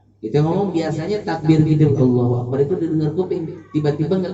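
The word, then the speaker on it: الله أكبر: Kaf dibacanya qaf. Allahu akbar, ya nggak boleh. Ya, Allahu Akbar. Kaf nggak ada kolkolahnya, karena kaf bukan huruf kolkolah.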